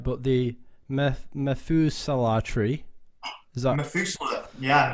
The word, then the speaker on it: Methuselah: So I don't know if I'm going to pronounce this right, but the Methuselah tree, is that Methuselah? Yeah, Methuselah tree.